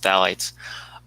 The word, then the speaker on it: phthalates: lot with plastics is phthalates um that's the weirdly spelled word that starts with ph but it's pronounced phthalates um so with those